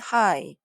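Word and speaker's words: high: GH 소리가 안 나요. 그러면 뭐겠어요? 그렇죠. H가 왔으니까 hi. 우리 맨 앞에 봤던 안녕 할 때 그 hi와 발음이 같아요.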